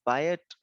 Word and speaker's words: Biot: रहे हैं that is बायट Savart's loss. अब देखो बायट Savart loss, first of all this is बायो kind of, जो बायो में जो टी है ना, ये वाला टी, ये साइलेंट टी है।